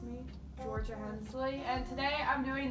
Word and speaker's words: Jorja: So they named me Georgia, and my name is spelled J-O-R-J-A.